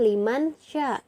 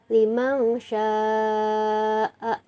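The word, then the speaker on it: لِمَنْ شَاءَ: Jadi dibacanya bukan liman sya tapi limang sya'a.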